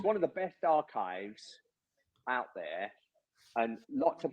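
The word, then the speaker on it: arXiv: website which is o it's called archive but it's spelled AR that that has all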